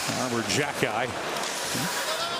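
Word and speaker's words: Arber Xhekaj: He finds some open ice with it, but it'll be scooped up by Armor Jacki. That's one of those names where you take a look, and yes, that's how he pronounces it.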